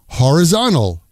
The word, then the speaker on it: horizontal: Horizontal. Horizontal becomes horizon-al. There are several vertical and horizon-al lines in this photo.